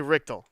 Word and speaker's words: Richtel: god no because it's because i'm pronouncing it like if the l wasn't r it would be richter like the richter scale so i'm gonna just say richtel matt richtel okay best